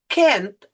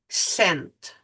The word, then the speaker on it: scent: If it is followed by an E, C becomes a soft C. So you say, instead of Kent, you say scent. All right? Now, C here becomes a soft C. It sounds like S.